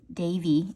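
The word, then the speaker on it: Daveigh: Oh, the girl, her name is Davy. It's spelled D-A-V, like E, with an I-E-H, like Lee, like Leah.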